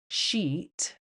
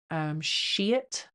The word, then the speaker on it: Scheat: Saturn and Neptune were at 0 Aries, and the fixed star Sheeeeet. It's spelled Scheat, I think. Sheeeet. Anyway, I like to call it Sheeeeet.